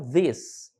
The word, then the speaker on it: this: As palavras em língua inglesa com TH, na mais das vezes, têm a sua pronúncia de D. Então esqueça cheese, qualquer outra pronúncia, é this, tá?